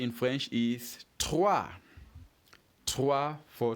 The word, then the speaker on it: trois: 3 in French is trois. Trois for 3. And how do you spell trois? Simple. It is T-R-O-I-S.